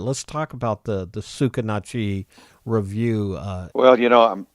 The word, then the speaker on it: Sucarnochee: do you pronounce them tsukitachi it's spelled suc AR n och EE and it's a river down here tsukitachi you say tsukitachi and it's a it's a Choctaw word beats I used to